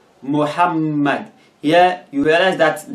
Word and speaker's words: Muhammad: ar another example is muhammad muhammad here you realize that the m or the two m's are in red so you pronounce it as if it is separate like muhammad muhammad so